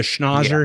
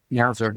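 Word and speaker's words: schnauzer: We're doing uh or we're doing the schnozer here. Is that how you say it? You're a dog guy, right, Ron? Schnowzer. Yeah. Schnowzer.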